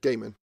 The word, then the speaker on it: Gaiman: Is it Gaiman or Gaiman? Gaiman.